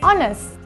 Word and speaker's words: honest: and plenty Youth and before words that start with the silent h these are nouns like our and Air and adjective honest so we stay an hour an air and an honest person do not use and